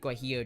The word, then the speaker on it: guajillo: This is how you spell it. Gu U A J I L L O is guillo chili.